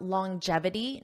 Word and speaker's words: longevity: now let's talk about longevity notice that pronunciation long J J it has a j sound longevity jevity longevity longevity